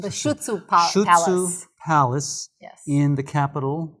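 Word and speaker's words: Șuțu: Shutsu Palace Yes.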